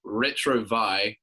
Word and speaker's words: retrouvaille: It was called, the pronunciation was retrouvaille, which is basically like the feeling you get when you see someone again that you used to love or something. Something like that. But yeah, like Mitch said, it was too confusing. The way it's spelled looks like ratatouille.